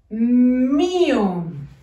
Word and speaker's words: mío: Es mío. Un color de espacio. Mi, acento en la I. Mío.